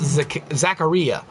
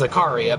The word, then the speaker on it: Zaccaria: I think it's pronounced Zaccaria is how they would say it in Italy. But everyone I've ever heard say the word here in America says Zaccaria because of the way we pronounce things.